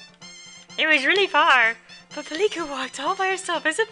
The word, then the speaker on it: Pilika: Yeah, that works for Pilika.